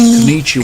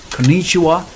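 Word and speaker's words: こんにちは: Konnichiwa and konnichiwa. You probably come across content about pitch accents. In Japanese, we call that kote accento. Kote accento. And it's slightly different than the English stress because it's not just one stressed syllable, but kote means high and low. So each syllable will either be high or low.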